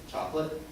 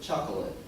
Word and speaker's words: chocolate: Some people pronounce it chocolate. Some pronounce it chocolate.